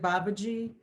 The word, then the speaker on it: Babaji: not to but mahavatar and you said babaji babaji you pronounce the j yeah i'll put a screenshot